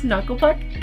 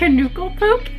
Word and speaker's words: Knuckle Puck: But like, they pronounce Knucklepuck Knucklepook, and every time I think of Knucklepuck in my brain I go Knucklepook.